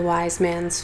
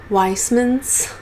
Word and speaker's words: Wise Man's: the Wind and the Wise Man's Fear. However, she pronounces Wise Man's Weissman's. Oh, like a Weissman. Like if she was saying the word fisherman or policeman.